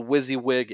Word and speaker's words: WYSIWYG: train you guys a little bit on the Wizzywig editor, uh, within the Usion software. How many of you who are here live with me know what I'm talking about when I say Wizzywig?